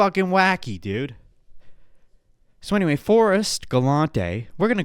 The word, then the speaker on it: Galante: 1 s one R galante Forest galante is pronounced as follows Forest forist galante oh it's galante thank you grock thank you grock let me